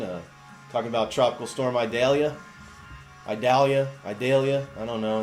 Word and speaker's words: Idalia: talking about tropical storm idalia idalia idalia I don't know in the South it sounds more like I think we pronounce it more like idalia so any case let's